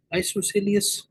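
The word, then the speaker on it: isosceles: ना हो उनको हम क्या कहते है जी आइसोसेलस इसकी प्रोनंसिएशन कुछ और भी हो सकती है लेकिन आप इसकी spelling फकस आई एस ओ एस सी एल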